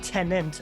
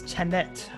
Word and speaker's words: Tenet: and even the the name tenant it's not tenant like a tenant in a apartment building it's tenet t-e-n-e-t so it's spelled ten and then ten backwards yeah so